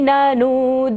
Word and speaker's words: ननूद: मुक्ताफल द्युतिमुपेति ननूद बिंदुः, ननूद बिंदुः। ननूद को लंबा लेना है क्योंकि न के ऊपर बड़े की मात्रा है।